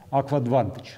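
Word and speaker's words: AquAdvantage: Я не могу произнести это слово, честно говоря, сколько ни пытался. Аквадвантаж, наверное, вот так вот он произносится.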